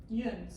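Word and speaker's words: you'uns: and they did not say y'all, they said yuns. We've used yuns. See, And yuns is not spelled Y''UN. That's not how you spell it. It's spelled YOU''UN. Yuns.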